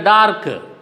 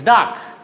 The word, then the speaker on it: dark: Most of the time, we pronounce it as a dark, but it is not correct. It is dark. R should not be pronounced.